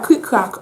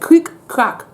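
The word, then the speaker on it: Krik? Krak!: Next we have Creek Crack, okay? That's how you say it. Creek Crack.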